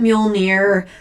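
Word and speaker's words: Mjölnir: You have to pronounce it Muolnir.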